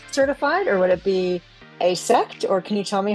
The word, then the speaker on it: AASECT: And is this like AASC certified or would it be asex or can you tell me how to pronounce that properly?